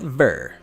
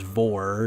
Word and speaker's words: Vor: is written as this that o is pronounced more like an e sound which is being